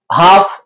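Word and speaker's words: half: एल आ जाए और एल के बाद अगर एम आ जाए या एफ आ जाए या के आ जाए तो ये जो है ना फिर एल साइलें बन जाता है कि बाम पाम हाफ और अनदर एग्जांपल भी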